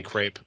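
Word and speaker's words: crêpe: crepe his crepe crepe it's actually it's actually crap but americans say crepe yeah okay and then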